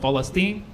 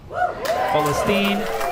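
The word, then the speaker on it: فلسطين: I think we should drop it and go with Philstine. Philstine is the Arabic way of saying it. The only issue with that is then Americans would have to pronounce that and they'd be like Palestine.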